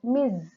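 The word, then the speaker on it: Ms: that miss and mispronunciation the m-i-s-s is pronounced as miss miss parker miss the sir sounds miss whereas m s is pronounced as miz okay so you should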